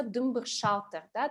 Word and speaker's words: дымбыр-шалтер: с грохотом, это все дымбыр-шалтер, да, то есть звук падения чего-то. Именно дымбыр-шалтер, то есть как бы на первые слоги ударения или? Дымбыр-шалтер, да.